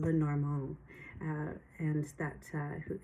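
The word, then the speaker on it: Lenormand: I know I'm pronouncing Lenorand not well either. Um it's Madame Lenorong.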